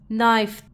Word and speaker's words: knife: tough next combination is K is always silent just before n just like n e n and this K is silent n i knife this is long ovel